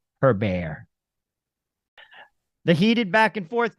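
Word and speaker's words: Hébert: Canadians and uh I love Chantal I even pronounced her name correctly her bear the heated back and forth continues at City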